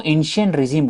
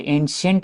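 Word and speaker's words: ancien régime: French society का तो एंस रेजीम बोलते एंट नहीं है टी साइलेंट है एश रिज में इसका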